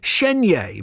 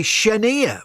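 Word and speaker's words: Chenier: here this is clifton well the occasions would say sheny but many americans say shenia but i would say clifton cheney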